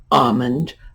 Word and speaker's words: almond: You do not pronounce the L. And there are a number of words like this. Palm is another one. Almond, another one.